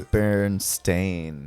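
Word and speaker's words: Berenstain: binded books what's the what's the right way to say that like is it I think it's Baron stain stain unfortunately we were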